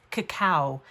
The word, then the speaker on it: cacao: if you want, I never can say this, cacao is the way it is pronounced properly.